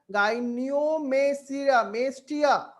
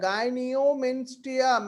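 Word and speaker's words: gynecomastia: আমরা দেখো দেখো আমরা ভেঙে ভেঙে পড়বো, গাইনিওমেসিয়া, ভালো করে প্রোনাউন্সিয়েশনটা করবো আমরা, গাইনিওমেস্টিয়া।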